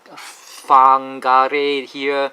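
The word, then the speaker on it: Whangarei: a Maori language, and when you see the WH in front, it's pronounced as F. So Wagaruru, Whakatane, Whangare here, so it's a F.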